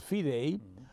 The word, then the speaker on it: FIDE: The World Chess Federation, which is more commonly known by its French acronym FIDE, which we pronounce as FIDE, uh uh has not yet determined who is going to host that event.